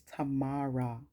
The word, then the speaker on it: Tamara: is tamara no my mom says my name is tamara ta ma ra okay